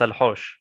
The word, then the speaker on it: Al Haush: it's Al Haush. Al Haush. So, Yeah. so if I'm not mistaken, you'd spell it as AL and then space HAUSH.